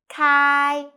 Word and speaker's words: 开: i'm sunny the word of the day is kai in this video i will teach you how to pronounce it how to write it and how to use it okay first let's read together kai kai ku kai okay peter so today we'll learn